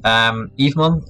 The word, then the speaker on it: Evemon: Evemon is also a tool you might want to Google. It's just written as I just pronounced, it's like Eve and then M-O-N.